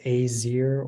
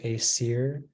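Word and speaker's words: Aesir: all right uh your word is azir they have all the oh no all the information please uh can be pronounced azir or a Seer it's a plural noun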